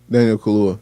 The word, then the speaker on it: Daniel Kaluuya: Daniel Kaluuya.